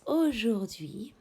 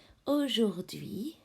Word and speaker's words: Aujourd'hui: Aujourd'hui. Aujourd'hui. This is silent H.